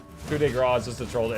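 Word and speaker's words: coup de grâce: And it would flash coup de grace, the spelled, Coupe de Gracie. It would spell it because the game did not have voice acting. So before I ever heard the word coup de grace, I had read it wrong 1,000 times.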